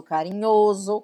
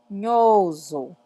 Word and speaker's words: carinhoso: Que o S entre duas vogais, ele tem som de Z. Então, a pronúncia é oso, carinhoso, carinhosa, bondosa, bondoso, tá?